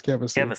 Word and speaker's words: Kevysie: Is this Kevysie? Is this right? Did I say that right? Yes. Yes, Kevysie. It's Kevysie.